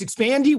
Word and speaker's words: Expandi: e dot io so it's expanding with an i expand i dot io uh seven thank